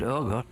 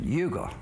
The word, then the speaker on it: Uga: They pronounce it yuga, but it's pronounced ugger as in mugger.